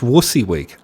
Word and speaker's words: WYSIWYG: WYSIWYG is spelled wussy, is pronounced WUSSYWIG. I never knew that. I always say Wizzy.